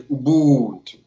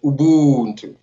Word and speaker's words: Ubuntu: So you pronounce pretty well, actually. So back home, we say Ubuntu. So repeat after me, Ubuntu. Ubuntu. Now we're talking.